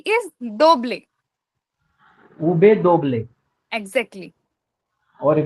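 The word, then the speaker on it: doble: इज डोबले डी ओ बी एल ई इज दोबले उबे दोबले एकजेक्टली और वी का pronounce होगा उबे उबे हां दोनों में से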